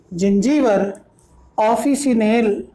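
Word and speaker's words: Zingiber officinale: जिंजीवर ऑफिसिनेल, जिंजीवर ऑफिसिनेल, या कुछ लोग प्रोनाउंस करते हैं जिंजीवर ऑफिसिनाले, जिंजीवर ऑफिसिनाले।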